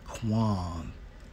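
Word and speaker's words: קוּם: Now, when we focus on I will raise up, and it's Strong's H6965, pronounced as Quam, in the Hebrew, right?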